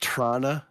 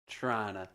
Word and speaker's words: Toronto: It's pronounced Trana. Thank you very much. Trana.